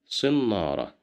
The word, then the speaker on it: صنارة: صنارة, صنارة, صنارة, which means a fishing line, as you see. And here we have kasra right below the letter sad. So that's why we pronounce it as si.